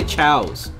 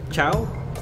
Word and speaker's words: ciao: do you say it I used to say towels that sounded stupid is how you say it ciao well yeah I love